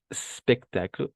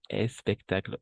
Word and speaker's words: spectacle: Alors, au français, on va vraiment commencer par le S. Vamos a comenzar siempre por la S. Entonces sería sport, spectáculo, Stefan. Y no sport, espectáculo, Stefan.